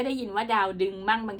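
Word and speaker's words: ดาวดึงส์: ดาว ดึง นะ คะ คำ นี้ อ่าน ว่า ดาว ดึง นะ คือ ปา ก็ ไป ค้น ดู นะ คะ เพราะ ว่า ที่ ผ่าน มา เนี่ย มัก จะ พูด ว่า ดาวดึง นะ คะ แต่ ก็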